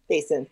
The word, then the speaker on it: Kasin: pronunciation Kasin? Kasin, yeah.